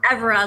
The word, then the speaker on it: Evera: It's Evera, like everyone deserves a great school to go to.